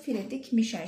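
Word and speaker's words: Friedrich Miescher: Şöyle yazılımı bu şekilde ama okunuşu Friedrich Mischer şeklindedir.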